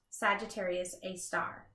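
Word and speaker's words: Sagittarius A*: Hidden in the center of the Milky Way is a black hole called Sagittarius A, pronounced Sagittarius A star.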